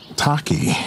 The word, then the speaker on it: Taqi: well what's your name my name is t Taki yeah that's what it is why don't you stop